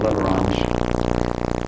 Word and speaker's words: Leveron: group involved called the Leverons. There's a simple spelling for that, and there's a more expanded spelling, but basically phonetically it's Leveron, the Leveron group.